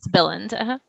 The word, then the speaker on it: Billund: So I see people asking that Billund, is that how you pronounce it? Yes, Billund.